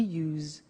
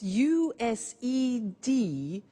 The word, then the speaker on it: used: don't have now we use used to look at the spelling s it's it's u s e d and then t o but the pronunciation is not used it's us unusual used okay so the example